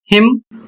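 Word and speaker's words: hymn: अगला शब्द है एच वाई एम एन। और इसका उच्चारण होता है हिम।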